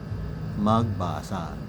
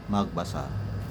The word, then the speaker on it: magbasa: Siya nga pala the correct pronunciation of that word is magbasa. Hindi magbasa. Don't worry hindi ka nag-iisa kasi marami kayong nagkakamali. Magbasa raw. Hindi po magbasa.